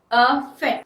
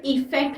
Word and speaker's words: affect: Pronunciation में पहले ध्यान दीजिए, अफेक्ट। ठीक है, इफेक्ट नहीं, अफेक्ट।